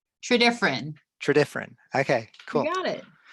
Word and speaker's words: Tredyffrin: Tredyffrin. Tredyffrin.